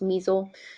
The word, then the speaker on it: MSEL: list it's called the abbreviation for it is pronounced Meisel msel and so as you can see like